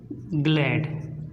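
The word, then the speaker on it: glad: लिख दिया है अगर जी के बाद आर आता है तब भी हम क्या करते हैं जी का उच्चारण करते हैं तो इसी प्रकार से यह भी देख लेते हैं जैसे जी एल ए दी इसको बोलेंगे ग्लाइड ग्लैड तो इसको बोलेंगे ग्लैड तो यहां पर जी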